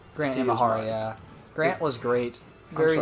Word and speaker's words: Imahara: Now, in memory of the late Grant O'Hara. Grant Imahara, yeah.